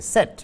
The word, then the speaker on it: SET: It's not a typical set, it's a sorted edge table called in sort SET is probably the correct way of pronouncing it. You can use set, but SET we will use.